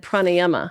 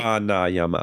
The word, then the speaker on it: pranayama: So you see the line over the A? That means it's long. So a rather than uh Okay.